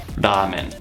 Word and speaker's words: ramen: In Japanese, the correct pronunciation is ramen.